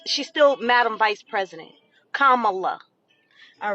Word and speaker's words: Kamala: have the nerve to say her name is kamla okay let's let's she's still Madam vice president Kamala all right and your education baby you can